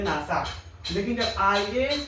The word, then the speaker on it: IAS: लेकिन जब IAS को पढ़ते हैं, IAS, अलग अलग कर पढ़ते हैं, पहले एक फिर